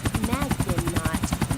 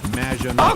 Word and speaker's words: Maginot: Magdinot, welcome to the show. Thanks, Amy. However, you have mispronounced my name. It's Madge, which rhymes with badge. As in duh, and no as in more than you. Maginot.